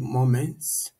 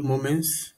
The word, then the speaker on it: Momence: we will be talking about a tool called moments moments is spelled m o m e n c e